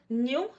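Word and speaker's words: knew: तो होमोफोन से example न्यू एंड न्यू, एक जैसा है बोलने में, लेकिन आप इनके स्पेलिंग्स देखिए, के एन ई डब्ल्यू एंड एन ई डब्ल्यू।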